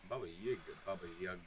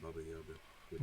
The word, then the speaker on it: Baba Yaga: Baba Yaga. Say it right. Okay, well, Yaga. I'm sorry, Baba Yaga, Baba Yaga. Yeah, the boogeyman. No, not Boogeyman, Baba Yaga.